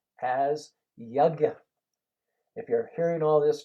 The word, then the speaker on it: yajna: yajna means sacrifice, and it's spelled Y-A, basically G or J, N-A. And the G or J is more or less silent.